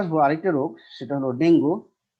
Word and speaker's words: dengue: এবার আমরা আসবো আরেকটা রোগ, সেটা হলো ডেঙ্গু। ডেঙ্গু রোগের কারণ, এর প্রকৃত উচ্চারণ হলো আসলে ডেঙ্গি, একটি ভাইরাস জনিত রোগ।